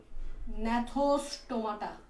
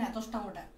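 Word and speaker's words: Gnathostomata: আর এই super class 2 এর নাম হচ্ছে ন্যাথোস্টোমাটা। তো দেখো এখানে জিটা উচ্চারণ হয় না, বলার সময় জিটা উচ্চারণ হয় না, এটা হচ্ছে ন্যাথোস্টোমাটা।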